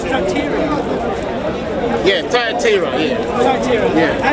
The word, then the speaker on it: Thyatira: and to the rest in I can't pronounce that. What does that say? It's Thyatira.